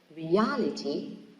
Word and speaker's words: reality: in the first syllable reality in the second syllable so reality also can